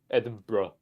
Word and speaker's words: Edinburgh: Just say Eden and just add bro at the end of it.